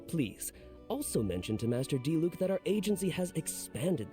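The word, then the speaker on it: Diluc: rarely at the winery finally we get him to say it right Master D Luke's brother I've been right okay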